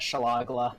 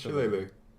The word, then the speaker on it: Shillelagh: I had a friend who called that Shalagla. Shalaglog. Shalagla. I'm gonna actually check what it's pronounced. It's Shillelagh. It's Shillelagh. Like an Irishman word.